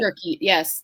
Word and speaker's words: spirochete: I guess that's how you pronounce it. Um, Spirochete. Spirochete. spirochete, yes.